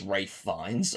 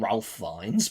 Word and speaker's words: Ralph Fiennes: his name is pronounced Rafe Fiennes. I always said Ralph Fiennes before, but I realized you actually pronounce it as Rafe even though you literally spell Ralph.